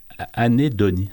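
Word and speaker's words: anhédonie: Ouais, ça sera anédonie.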